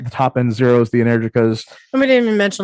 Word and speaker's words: Energica: You're not saying it right. It's MSA Energica. Energica. Yes, I said Energica. Energica. Okay. All right. Let me adopt Liza pronunciation.